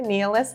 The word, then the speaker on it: Nialas: And it's called Nialas, is that how it's pronounced? Yes, I've been saying it wrong for a long time, but now they've started to put the little, phonetical spelling on here, Nialas.